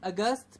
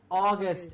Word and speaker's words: August: July I guess exactly not a gust but August excellent very good I'm getting